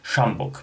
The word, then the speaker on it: sjambok: Drugim przedmiotem jest to, nie wiem, czy się tak poprawnie wymawia, z tego co słyszałem na necie, tak to właśnie wymawiają ludzie, szambok, pisze się S-I-A-M-B-O-K.